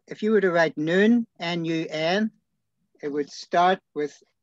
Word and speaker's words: Nun: is properly pronounced noon, not none. Because my grandmother used to joke how Joshua could have been a son of a nun.